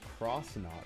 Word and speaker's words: X knot: Phil Silver only rec only re recently realizing that X knot is pronounced crossnot because it's like knots and crosses.